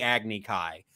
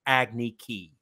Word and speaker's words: Agni Kai: the exposition of the Agni Kai. For some reason, they had that kid pronounce it Agni Ki, which is ridiculous because that was actually pronounced correct in the series.